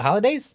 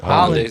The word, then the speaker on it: hollandaise: Is it holidays? Hollandaise. Hollandaise Hollandaise.